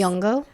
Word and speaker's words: Nyong'o: And pronounce this one for me, Lupita please. Nyong'o.